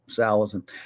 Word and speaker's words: Salatin: And so it's Salatin. If you say Salatin, you're accenting the wrong syllable.